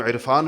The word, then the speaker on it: عرفان: کچھ لوگوں کا نام عرفان ہوگا، کون اس کو عرفان کہتے ہیں؟ عرفان کہتے ہیں، حمزہ سے کہتے ہیں، تو ہم عین کا تلفظ کرتے نہیں ہیں، حالانکہ لکھتے ہیں، کرتے نہیں۔ اب قرآن میں کرنا